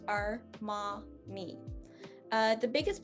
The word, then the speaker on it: Armani: comes with our languages so the biggest pronunciation choice that i see here is uh our ma that a actually um i hear a lot of people take on a y sound or arm or manny maybe uh because they're breaking